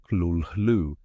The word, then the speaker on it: Cthulhu: There is no correct way for a human mouth to say it. Lovecraft himself suggested the closest approximation was something like "Khlûl-hloo", a sound that should not be pronounced by lips, teeth, or tongue.